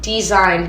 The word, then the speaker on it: Dzine: Design, but it's spelled DZINE.